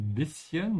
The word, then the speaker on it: bisschen: For everybody who's having trouble pronouncing bisschen, make sure you remember that the word actually is cut in half like that. Say bis first, then open your mouth and say chen. Ja, bisschen.